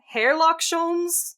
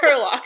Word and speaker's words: Herlock Sholmes: it has been expressed to me that it's pronounced Hairlock Sholmes, and I'm like... Well, no, he misheard. It's fine. It is pronounced Herlock, I promise.